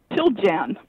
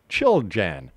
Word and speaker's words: Chiljan: Did I say it right, Katherine? Chiljan. Chiljan. Chiljan. Yeah. All right. Chiljan. Chiljan, right. Chilly in January.